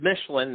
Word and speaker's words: Michelin: You said Michelin, and that's the correct way to say her name.